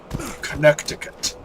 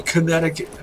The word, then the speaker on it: Connecticut: also a New Haven Connecticut why don't we say Connecticut it's spelled connected I didn't have